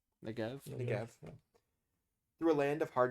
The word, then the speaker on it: Negev: Negev? Negev.